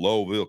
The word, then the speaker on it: Louisville: hey I'm going to Lowville Kentucky Lowville loisville they don't pronounce the S man they keep that